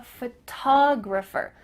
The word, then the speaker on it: photographer: physical thing a photograph we're going to emphasize a different part of the word faux to graph do you notice that the first syllable is emphasized here photograph compared to i'm a photographer that first part is small